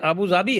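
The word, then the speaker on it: Abu Dhabi: है ना अबू धाबी उसका एक्चुअल प्रोनंसिएशन अबू जाबी है ओके इट इ अबू जाबी ओके नहीं तो फैक्ट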